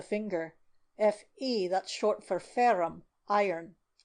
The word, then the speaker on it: ferrum: "Fe, that's short for ferrum, iron." Tammy pronounced the Latin word with a strong burr of the R's.